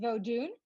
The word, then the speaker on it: Vodun: so first of all it's pronounced vodun um and it is a Haitian tradition um and I don't